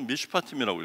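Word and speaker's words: משפטים: 이건 판단하다, 분쟁을 조정하다, 심판하다 뭐 등등의 뜻이 있는데, 이 샤파트라고 하는 것에 접두어 맴을 붙이고 이 부분에 또 복수형 이거를 넣어주면서 미슈파팀이라고 읽어요.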